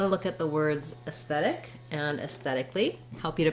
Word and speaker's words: aesthetic: It has the red tent vowel, sounds like S, S. So just like the letter S, or you could write it this way, S. And then we have a voiceless TH sound in the stressed syllable. So that's the same TH we have in think and thought. And again, another red tent vowel, so thet, aesthet, aesthetic. When I use that T